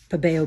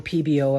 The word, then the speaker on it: Pebeo: But again, the smell in these, there is a smell, but to me it's not as strong as the Pabeo PBO. I've heard people pronounce it both ways.